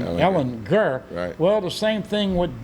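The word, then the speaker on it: Ehlinger: to play texas and i was calling him sam ellinger and of course he called he pronounced his name ellen gurr well the same thing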